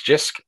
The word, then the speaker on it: Jisc: what Jisc is about, or even if I'm pronouncing the name of it correctly? You can start there if you wish. Yeah, it's Jisc.